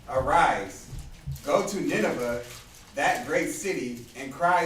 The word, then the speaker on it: Nineveh: Right, so get up, Jonah, go preach to Nineveh. Right? Or Nineve is really how it's pronounced.